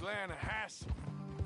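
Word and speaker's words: Lannahechee: Yeah, but it's pronounced Lanahatchee.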